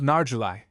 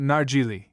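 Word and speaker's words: narguile: The second sort is called narguli. Some pronounce it nargili.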